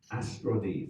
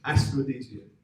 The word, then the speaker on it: Austronesian: and we're also speaking about what's called the Austronese. Yes, it's Austronese. Yes. Austronesian, that's what I want to say. Austronesian.